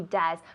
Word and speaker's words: does: Yes, he does. Con la U. Yes, he does, decimos. Yes, he does. Does? Does? No, porque es una O y E, pero se pronuncia como una U en inglés. Does.